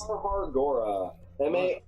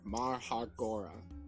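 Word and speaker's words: Marhargora: Marhar Gora. Marhar, M-A-R-H-A-R-G-O-R-A-H. Marhar Gora. There's an H in there. Marhagora.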